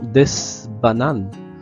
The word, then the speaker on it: bananes: Remarquez ici, la S de D ne se prononce pas.